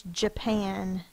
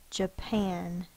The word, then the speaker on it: Japan: syllable break right here there's only going to be one syllable that's stressed or accented here's a good way of remembering that if your dog was named Japan and you're fussing at your dog how would you say it would you